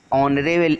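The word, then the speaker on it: honourable: H is silent letter in ऑनरेबल words, है ना। ऑनरेबल जो वर्ड है इसमें H जो है साइलेंट है, इसकी साउंड जो है O से आ रही है, ऑनरेबल।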